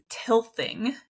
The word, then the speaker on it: tilth: The second no-till method is tilthing, and I'm going to spell that because if you're just listening, it might just sound like tilling.